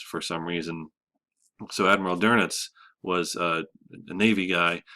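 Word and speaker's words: Dönitz: be an uml out over the E it's pronounced dernitz for some reason so Admiral durit was a a Navy guy and he was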